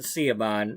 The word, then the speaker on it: Siobhan: I I don't care if it's Siobhan. Siobhan like in in my story she pronounces it Seaban and so do I.